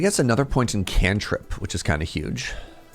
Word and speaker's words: cantrip: I had a friend who showed up at D&D and pronounced it can't rip, not cantrip, and we all giggled.